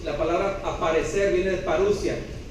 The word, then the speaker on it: parousia: A la segunda venida de Jesús, en griego, se le llama parousia. La O con la U juntos en griego se pronuncia como U. La parousia.